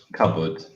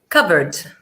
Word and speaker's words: cupboard: all right it's and pronunciation that is a board cupboard cupboard comfort in the cupboard